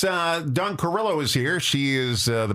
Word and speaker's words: Carrillo: I say Carrillo.